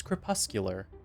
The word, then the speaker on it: crepuscular: It's crepuscular, but I don't really want to go back and edit all the footage, so enjoy me mispronouncing it.